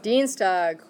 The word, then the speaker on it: Dienstag: look at it carefully the IE which one you're going to pronounce the e the second one okay so how would you say that one dienstag watch okay so dienstag